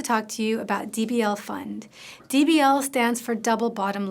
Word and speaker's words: Pfund: So the founder of DBL fund is Nancy Fund. I'm not making that up. Her last name is Fund. It's spelled PFU ND.